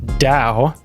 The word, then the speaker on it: DAO: what is a dow a dow pronounced Dao stands for decentralized autonomous